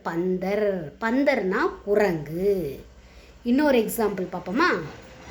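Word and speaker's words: बंदर: ப இன் த இர் பந்தர் அப்படின்னு உச்சரிக்கணும்.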